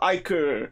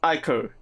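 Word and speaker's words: ichor: can fill it with magical iker that's pronounced ico choose your iq wisely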